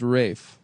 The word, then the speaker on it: Ralph: Uh, but it is pronounced Rafe.